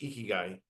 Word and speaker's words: ikigai: But I want to spend a little bit more time on the Japanese concept, generally pronounced ikigai, that combines 4 aspects of your life.